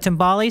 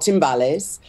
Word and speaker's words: timbales: that yeah is that tombali said or is that a drum set how am i saying it wrong or no it's it's they're all latin percussion uh they are called timbales the smaller ones we've